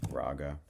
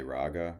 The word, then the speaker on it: raga: raa oops an Indian raga that's actually pronounced rag they don't even say the a at the end we just say raa But it's actually a rag.